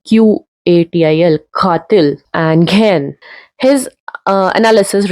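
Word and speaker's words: قاتل: Like katil, if we write in Hinglish, will be Katil, but it should be Qatil, katil, and ghen.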